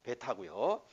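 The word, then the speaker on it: βῆτα: 알파, 베타고요. 베타도 이름이 베타야. 베타야. 어디에 있든지 이거는 우리로 말하면 비읍. 응? 영어의 비 어디에 있든지 비 비읍 발음이 납니다.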